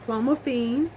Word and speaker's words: clomiphene: mines from cvs pharmacy so um it's called clomiphene it is spelled c-l-o-m-i-p-h-e-n-e again that is i c-l-o-m-i-p h